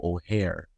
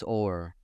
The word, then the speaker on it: Oher: Okay, former NFL offensive lineman Michael O'Hare. Is it O'Hare? I thought it was Orr. Orr? Okay. Is it Orr? People pronounce it Orr.